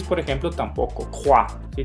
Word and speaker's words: croix: Croix. ¿Sí? Tenemos un ejemplo con X, croix, en vez de croix o algo así que me lo quisieran pronunciar.